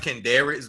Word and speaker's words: Kendricks: It pronounced Kendricks, but I prefer Ken or Kendricks.